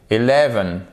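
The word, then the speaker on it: eleven: C'est le cas par exemple dans 11. Regardez, 11. Vous voyez le premier E, il est prononcé comme un schwa, comme un E atténué.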